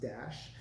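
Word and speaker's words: Dach: It looks like Doc, but it's pronounced Dash.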